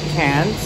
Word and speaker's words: Cairns: Coast to Cairns uh the guy told us by chance of coke so cans that's how they pronounce it here so so we're now